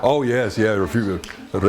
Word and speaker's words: Refugio: Oh, yes, yeah, refugio. Often mispronounced. And also, it's also interesting to consider, you know, I don't know how they got the R in there, refurio. It's a gringo thing, you know, the gringos did it because they couldn't pronounce refugio.